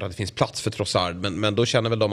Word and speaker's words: Trossard: Leandro Trossard. Ursäkta, men han är ju från Belgien, så det ska väl vara lite fransk betoning på det.